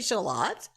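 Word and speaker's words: Shalott: This man's name is Shallot. Shallot. Like the small onion, Shallot. Well, it's Shallot. Okay. Some people say Shallot. Really? I suppose you could.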